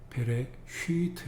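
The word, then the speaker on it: בראשית: 베레 슈이트 이렇게 베레쉬트 이렇게 길게 읽습니다.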